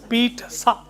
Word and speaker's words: pizza: This is pronounced pizza. Pizza. Pizza. Huh. If others don't pronounce it, please leave them. It's an Italian food. It's pizza and not pizza. You have pizza houses, not pizza houses.